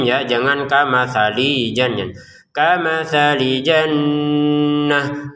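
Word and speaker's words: جنة: Kamali langsung ke jim ya, jangan kamali jan kamali jannah. Untuk kata jannatin perhatikan kita bacanya jannah untuk t-nya menjadi huruf ha.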